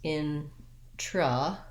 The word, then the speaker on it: introvert: So I'm going to rewrite it as introvert, and that's going to help me be light and short on that second syllable, introvert.